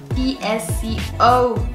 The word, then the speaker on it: VSCO: Ok, vamos a buscar en internet qué es una VSCO Girl. Ok, se pronuncia VSCO, o sea, sí lo estoy pronunciando bien, VSCO.